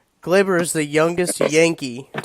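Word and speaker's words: Gleyber: name he kinda has a funky name its Glaber cuz he says because his told mine call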